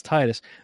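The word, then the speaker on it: Tidus: soccer ball and uh tetus I always pronounce Titus those are Final Fantasy 10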